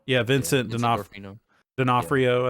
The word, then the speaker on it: D'Onofrio: Vincent, Dorfino. yeah, Vincent Dorfino. D'Onofrio, I think is how you say it.